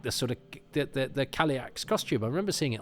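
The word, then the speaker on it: Cailleach: I think is the most common, but I'm sure I pronounced Kaliak Kailich until I heard this, and there are loads of different ones.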